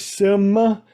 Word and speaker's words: Simard: Am I saying it right? Simard.